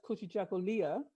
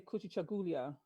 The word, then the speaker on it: Kujichagulia: There's 2 pronunciations. The American says Kujichagulia, and we say Kujichagulia. The African British say Kujichagulia.